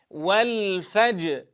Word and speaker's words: والفجر: بهذين الحرفين نقف على الجيم ساكنة مقلقلة، ثم ننطق الراء لوحدها منفصلة، ونتأمل هذين الصوتين ثم نحاول جمعهما بهذه الطريقة. والفجر معي، والفجر.